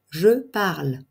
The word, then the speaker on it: parle: votre prononciation au présent le E final ne se prononce pas je parle passé composé j'ai parlé